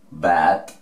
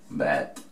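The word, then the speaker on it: but: Vamos con esta otra, muy sencillita, esta significa pero, bad, se pronuncia así, bad, la U, hacemos como si fuera una A.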